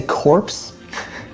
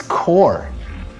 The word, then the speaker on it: Corps: Did you say corpse? It's core. That's how you pronounce it.